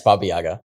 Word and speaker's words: Baba Yaga: Yes, Baba Yaga.